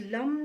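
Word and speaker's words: लं: कुछ लोगों के लिए मैं यहाँ पर कहूँगी कि आप लोगों के लिए जो रूट चक्रा होता है, जिसका जो प्रोनाउंस लम करके होता है ना, वो आपको चैंट करने की ज़रूरत है, अपने रूट चक्रा को बैलेंस करने की ज़रूरत है।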